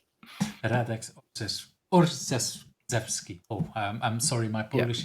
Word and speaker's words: Orszewski: Is that how I should pronounce the name? Yes, exactly. Radic Orchi. That's my name. Radex or Zevski.